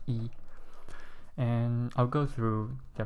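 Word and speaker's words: 一: one then you turn horizontally um so it's pronounced as e um just think of the tone uh just think about how it sounds because um Chinese has different you know Chinese different tones and this pronounce e and I'll go through the pronunciation once again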